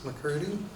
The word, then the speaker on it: McCurdy: Oh, first of all, I'll get you to tell us your name and then to spell it for us, please. Okay, McCurdy, M-C, capital C-U-R-D-Y.